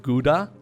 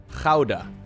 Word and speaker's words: Gouda: cold is like Gouda look guys we don't pronounce that Gouda over here okay you want to hear the Dutch pronunciation of whatever that means okay here it is how des how des don't even try it though because it's gonna hurt your throat like it's you're probably